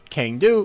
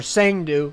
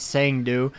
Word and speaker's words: Cang Du: 25 so pretty nice uh for the uh Kang do or sang do apparently is how it's pronounced that's what the guy in the trailer said sang do attack type is a melee strong attack all